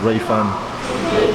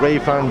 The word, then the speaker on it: Jiufen: I think it's pronounced Jiufen.